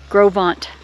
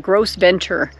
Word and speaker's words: Gros Ventre: my gosh you guys grovant when you look at it it looks like gross Venture but that's how it's pronounced grovant so look at this